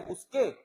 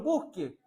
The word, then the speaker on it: busque: Se fija, el profeta le sugiere al Señor, aunque aquí no dice con acento en la E, busqué, no dice que él buscó. Le dice, Señor, busque.